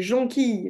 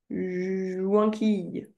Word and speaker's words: jonquille: C'est jonquille le mot pas joinquille.